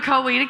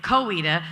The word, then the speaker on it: Coweta: had three different pronunciations how cowardice cowardice or coweta coweta okay okay in texas i would say kowita but then a woman we're not in texas and i said i don't think so and then yeah google